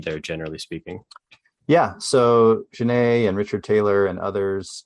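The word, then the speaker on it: Ginet: Is it Genet? Is that how you pronounce it? Genet. Genet. Okay. Yep.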